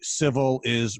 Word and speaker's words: Civilis: Yeah, Civilis is Latin for civilized. So it's civilized marketing, but it's spelled like civil is.